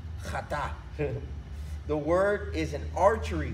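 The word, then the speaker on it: חטא: It's pronounced chata.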